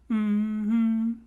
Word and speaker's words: Mmhmm: because they're going mm-hmm so that's how you pronounce it it's actually mm-hmm that's how we should say it for now